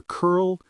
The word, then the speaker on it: curl: For example, compare curl and curling. In curl, the L is a dark L because it ends the syllable.